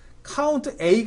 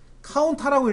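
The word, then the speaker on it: COUNTA: 말 그대로 개수를 세는데 카운트 a 있고 밑에 카트라고 읽지 마세요 카운트에 줄인 말입니다 카운트 다 샌다는 뜻이에요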